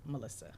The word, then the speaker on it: Milissia: different from Melissa yes it's spelled milissia but it still pronounced Melissa okay and that's mal